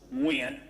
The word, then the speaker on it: Nguyen: my name is Nguyen but in Vietnamese it's actually pronounced when very difficult for people